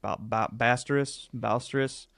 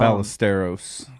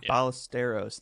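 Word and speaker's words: Ballesteros: The one person I'm paying attention to in the Cubs lineup is I don't know how you pronounce it. Ba Bastrus. Um, Ballisteros. Ballisteros.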